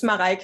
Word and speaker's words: Mareike: It's Mareike. It's a really German name.